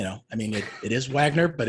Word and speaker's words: Wagner: i mean it is wagner but it's wagner because it's the german pronunciation that's a long story